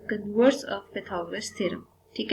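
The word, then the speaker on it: Pythagoras theorem: है तो basically simple अगर हम पाइथागोरस थरम या हम इसी को प्रोनाउंस करें तो पैथ गरस थोरम ठीक है इसको अगर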